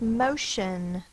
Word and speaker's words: motion: The next word is motion. Motion. M-O-sh-N. M-O. That's an open syllable. Sh-N. Motion. 2-syllable word. The first syllable is open, the vowel is long.